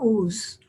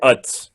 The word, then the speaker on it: Uz: There was a man in the land of, do you pronounce it Uz or Ooze? It's probably better Utz.